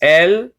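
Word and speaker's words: אל: And then El is just El, not El.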